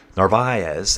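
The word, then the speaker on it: Narváez: But he was saying uh Jonathan Nar narv narvez why can't I say narvz narvz that's how you say it.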